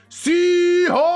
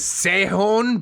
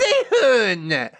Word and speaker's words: Sehun: Sihon! OP. Human Connection Beard. Just kidding. I know his name is Sehon, but it annoys my sister when I say it like that.